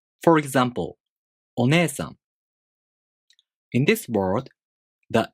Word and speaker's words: お姉さん: For example, お姉さん. In this word, the E long vowel is represented by E. お姉さん.